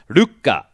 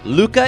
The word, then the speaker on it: Lucca: letter in this case the Lu gets cut a bit short and we jump quickly to the cop so the actual Japanese pronunciation is Luka Luka now I don't think anyone in the english-speaking world world is gonna bother to say that like that so Luca it is ok that was more